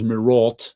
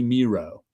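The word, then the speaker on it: Mireault: I always thought it was Miralt. I had no idea. But it rhymes with zero. So it's Bernie Mero. So good. Another another good thing from Bernie Mero.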